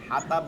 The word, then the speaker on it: الحطب: জবর হা হা, জবর হা, তবে জবর তবে, হাও তবে, ত কোনটা হরফ হচ্ছে তা না, কিন্তু ত, হাতাব বলা যাবে না, হাও তব বলতে হবে, ত ত।